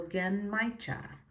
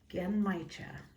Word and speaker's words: Genmaicha: It's a hard G, and like Ken, so Gen, and then M-A-I sounds like my, and then cha, so Genmaicha. Genmaicha.